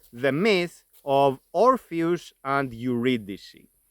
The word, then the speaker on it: Eurydice: of orus and uidic orus and uidic are names and this is the English pronunciation of those names in modern Greek we pronounce them as oras and every oras evi and this is the pronunciation I will be using in this video let me then introduce